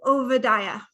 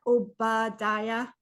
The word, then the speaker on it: Ovadia: to ovadia okay so it's not obadia or OA or obad it's OA OA um in Hebrew the bees sound like these for you Southerners oad that's how you say it oada not OB um okay let's get